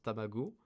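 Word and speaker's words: 卵: vous voulez vous souvenir que f ça se prononce tabago vous avez 15 juste vous rappeler des petits jouets les tamagotchi tamago tamagotchi c'est le ton petit à fatwas ton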